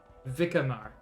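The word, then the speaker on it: Vicquemare: special task force or what's left of it vikkamar okay that's how it's pronounced um my special task force i was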